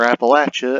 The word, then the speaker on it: Appalachia: Ultracite is an incredibly rare mineral and metal that can be found throughout different places in Appalachia, or Appalachia as some people pronounce it.